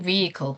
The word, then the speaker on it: vehicle: electric vehicle. 네. electric 전기의 그다음에 vehicles. 그렇죠? vehicle. 게다가 클 아니고 끌 항상 그렇게 났잖아요. 끌. 자, vehicle. h가 묵음이 아니에요. 그렇지만 발음은 거의 안 하죠.